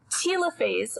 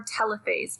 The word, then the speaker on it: telophase: last phase which is telophase or telophase people pronounce it differently depending on who you're talking to i don't care which one you say this is when the